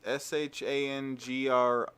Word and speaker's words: Shangri-La: How's that pronounced, Gene? I don't see the Streamlabs. It's Shangrilah.